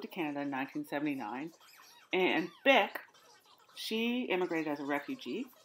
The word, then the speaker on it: Bich: Mama Pan, her name looks like it should be pronounced Bich Ha, which is so disrespectful because it's pronounced Bick, and she's a lovely